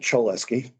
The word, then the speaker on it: Cholesky: Some people would pronounce it Choleski. I had a Russian student. Do that, but And I asked him, he said, yeah, it would be Choleski In Russian. in Russian. However, Choleski was French. CHO is pronounced show.